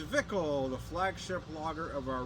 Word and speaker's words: Zwickel: to cry goodbye man uh pronounced vickel the flagship logger of